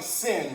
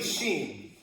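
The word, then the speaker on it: שין: But it's really sheen. Okay? Any I vowel in transliteration when you see it, it makes the e like like sheen seen. There's no real. So sin's not right. There's not like Yes. Sin is not right.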